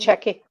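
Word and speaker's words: De Cecco: And, but it seems DiCecchio, am I pronouncing it right? It's got the double C's, Bucatini. DiCecchio.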